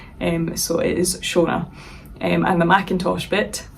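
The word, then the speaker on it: Seonaid: of other random variations but how you actually pronounce my name is shaa now in English you would spell that s h o n a but my name is a g spelling of the name um so in galac and which is by the way a Scottish language um from the sort of Northwest I think of Scotland my name would be pronounced in GAC as shaah but my parents knew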